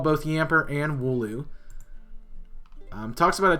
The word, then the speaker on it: Yamper: It's actually Yamper, not Pamper. But it was close enough to really make it a lot easier for us to get that. So, yes, he called both Yamper and Wooloo.